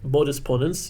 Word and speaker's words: modus ponens: this rule is called modus ponens modus ponens in proper latin pronunciation and this rule is